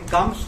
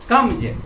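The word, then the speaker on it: comes: इसलिए मैं कम्स को कम्स नहीं पढ़ता हूँ, कम्स गलत उच्चारण है, कम्ज, गोज, कम्ज।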